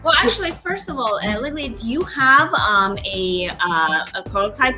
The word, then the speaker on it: Liliya: Did I pronounce it right? Is it LILIYA? LILIYA. LILIYA. Oh, I like that. Yeah, you can call me Lily. Lily. No, I like how you pronounced it, LILIYA.